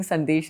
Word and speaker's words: Sandesh: So I'm from Calcutta and I have grown up eating sandesh and rasgulla all my life. I think all And Bengalis will be very offended if you don't pronounce that right. So it's Sandesh.